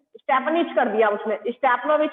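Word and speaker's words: Stepanovich: नहीं नहीं, आप देखो ना, आप समझो, ऑनर्ड स्टेपनिच, स्टेपनिच कर दिया उसने, स्टेपनोविच को क्या बोल दिया? स्टेपनिच, यानी कि गलत प्रोनाउंस कर दिया।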